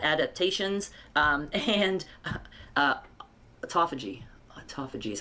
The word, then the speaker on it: autophagy: Um and uh autophagy autophagy is how it's pronounced.